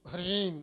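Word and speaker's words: ह्रीं: इसके, एम माँ, एम ह्रीम क्लीम चामुंडाई बिच्चे, जी शुद्ध उच्चारण है, क्योंकि संस्कृत में जब अंत में जो शब्द ओम जो बिंदु लगता है उसका माँ उच्चारण होता है।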